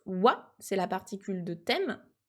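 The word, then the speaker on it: は: particule donc il se il s'écrit bien ah mais il se prononce wa c'est la particule de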